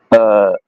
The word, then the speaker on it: Août: Sometimes you pronounce Août, sometimes you pronounce Août. I rather prefer you to pronounce Août, Août, because it's to not confund with OU, ou, or even HOUX, ou.